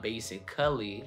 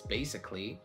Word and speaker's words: basically: The A is silent basically in A-L-L-Y endings, like basically. It's not basically, right? It's basically.